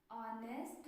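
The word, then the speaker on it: honest: अब देखिए यहाँ पर ए ई आई ओ यू, इनमें से कुछ भी नहीं है, एच है। ठीक है, लेकिन फिर भी हम क्या इसमें लगा रहे हैं, एन, क्योंकि बोलने पर वॉवेल साउंड आ रहा है, वॉवेल ऑनेस्ट।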